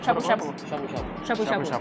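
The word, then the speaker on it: shabu-shabu: Shabu Shabu. Yeah. Okay. It was really good. The right pronunciation.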